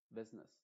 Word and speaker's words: business: mismo acá por ejemplo en vez de decir busi esta u se está eliminando y se o o más bien la u es la que se está pronunciando como v y quizás la i no se está pronunciando se diría bes nes business business y luego acá B